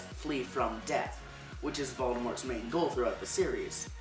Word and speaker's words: Voldemort: his name fun fact since the origin of the name Voldemort is French it should be pronounced without the T at the end but no one does